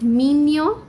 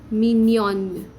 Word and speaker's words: mignon: Now the pronunciation of this word is slightly different than how it's spelled. It's mignon, mignon. Okay, it's like minion.